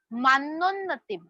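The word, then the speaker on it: मानोन्नतिम्: मान्नोन्नतिम, double न है तो जैसे अन्न, अन्न वर्ड को हम प्रोनाउंस करते हैं वैसे ही मान्नोन्नतिम.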